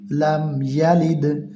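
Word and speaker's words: لم يلد: লাম মিম জবর লাম, ইয়া জবর ইয়া, লাম ইয়া। লাম দাল জের লিদ, লাম ইয়ালিদ।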